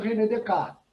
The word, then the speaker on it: René Descartes: Se escreve René Descartes, né? Na pronúncia francesa, René Descartes.